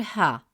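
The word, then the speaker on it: ـها: By adding the letter ha with an alif pronounced as ha, meaning her, to the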